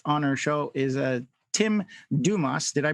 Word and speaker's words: Dumas: So today's guest on our show is Tim Dumas. Did I pronounce that properly? Yes, it's French. Tim Dumas.